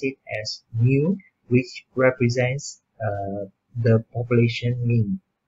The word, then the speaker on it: mu: This symbol, we pronounce it as mu, which represents the population mean.